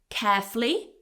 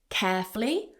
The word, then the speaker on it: carefully: So you can say carefully, 2 syllables, carefully, or carefully with 3, carefully.